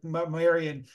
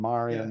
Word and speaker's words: Marion: she it's just she's she's German and that's how she pronounces her name Marian but um but yeah I mean you know I think she'll answer to Maran too so but it's